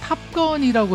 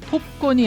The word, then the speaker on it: 탑건: 그런데 왜이 영화만 영어 본토 발음인 탑건이라고 했을까요? 톱건이 아니라요. 탑건. 저희는 톰크루즈라고 그러지 크루즈라고 안 그러잖아요. 그 당시 가요 톱이라고 그랬지 가요 탑 10이라고 안 했잖아요.